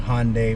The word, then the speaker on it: Hyundai: doing this and yes i'm gonna say hyundai because a lot of people have quoted me saying it wrong saying hyundai versus hyundai i'm sorry guys i will try my best to pronounce things as accurately as possible so i'm gonna try my best to remember that it's hyundai not hyundai and that is what